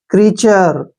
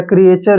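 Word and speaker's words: creature: और TURE को क्या पढ़ना हमने, चर, ऐसे। क्रीचर, ठीक है ना, या क्रिएचर भी बोल सकते हैं इसको।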